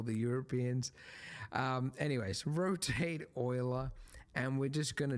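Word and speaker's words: Euler: shift a utilities rotation rotate not Ula oila that yes e I know they went with the weird pronunciation I think it was a Frenchman right could be German doesn't matter same same right just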